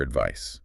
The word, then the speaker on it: advice: Advice, noun, ends with a clear S sound, like ice.